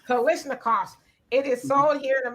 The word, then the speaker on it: Kalashnikovs: Kalashnikovs. Kalashnikovs.